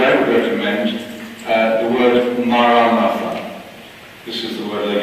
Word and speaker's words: Maranatha: And if you choose this word, this prayer, say it like this in 4 syllables: Ma-ra-na-tha. Ma-ra-na-tha.